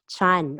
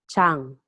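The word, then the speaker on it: ちゃん: And for the child's name or for the girls, they add chan or sometimes pronounced as chang.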